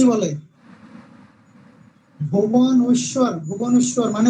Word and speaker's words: ভুবনেশ্বর: ভুবনেশ্বর। ভুবনেশ্বর মানে উচ্চারণ করতে আমাদের দাঁত ভেঙে যাওয়ার মতো।